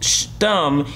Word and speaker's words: shtum: Salvage B292 says, "Shtum, adjective pronounced stum.